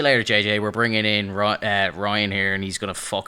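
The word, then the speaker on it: Rian: Is his name actually pronounced Rain? Rain? I know it's Ryan. It's Ryan, but it's R-I-A-N.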